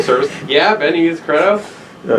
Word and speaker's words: Credo: Yeah, Ben, you use Credo? Yeah, I think it's pronounced Credo. Credo, thank you.